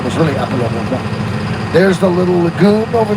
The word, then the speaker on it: Apollon Rivoire: And Paul Revere was the son of French Huguenot whose father was named Apollon Rivoire. Apollon Rivoire, like Apollo River.